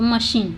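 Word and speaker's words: machine: Complex मशीन, यहाँ पे सी एच का प्रोनाउंसिएशन च नहीं स है, तो मशीन, देखिए सी एच के बाद आई है तो इसको पढ़ते हैं मशीन।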